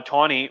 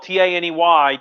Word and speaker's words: Taney: the same one uh uh tawny remember it's spelled t-a-n-e-y taney like the taneytown road which is in gettysburg but apparently like according